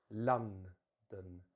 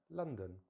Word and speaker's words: London: words, the stress is normally at the beginning of the word. London, London. So let's make sure we a bit of extra stress on the lun. And then what happens usually in the weak syllable is we usually have the schwa sound, the most common sound in English, which is very easy to make. It's a neutral vowel, so the mouth is completely relaxed.